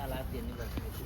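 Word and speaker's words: Alâeddin: Nah, itu yang yang berhasil ngegagalin ini Alidin. Ini Alidin tuhusannya tuh. Ah, ini alatin bacanya alatin itu ali. Kalau di Turkinya dia alatin.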